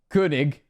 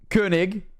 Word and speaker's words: König: Well, you did pronounce it correctly, even the O. Yes! I did the König.